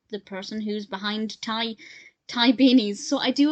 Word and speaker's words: Ty: call it Ty beanies it is Thai because it's named after Tai Warner the person who's behind Thai Thai beanies so I